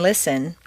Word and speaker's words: listen: Just as you don't say the T in listen, the double T in better is pronounced D, better.